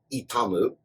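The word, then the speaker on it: 痛む: Pain in Japanese, the kunyomi, or the Japanese pronunciation of the word, is, as a verb, itamu.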